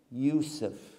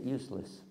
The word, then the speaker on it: Yusuf: Why is it my wife, even all these years, she still pronounces it useless?